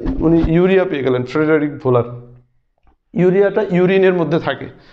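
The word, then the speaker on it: Wöhler: পরবর্তীতে জার্মান বিজ্ঞানী ফ্রেডারিক ভোলার, ফ্রেডারিক ভোলার, ভোলার এটা বানানো হচ্ছে এরকম উহলার, তো এটা জার্মান উচ্চারণ ভোলার।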